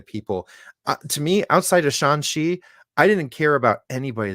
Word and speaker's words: Shang-Chi: very Shang-Chi. That's the proper And pronunciation.